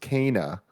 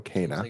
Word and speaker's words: Kena: Kena Bridge of Spirits is pronounced Kana per a Game Informer interview. So there you go. Kana Bridge of Spirits.